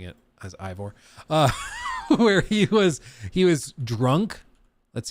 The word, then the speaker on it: Eivor: guys want to make fun of me for pronouncing it as Ivor, where he was drunk.